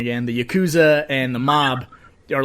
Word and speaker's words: Yakuza: stuff is happening but then you know the Yakuza I said it wrong again the Yakuza and the mob are like watching keep going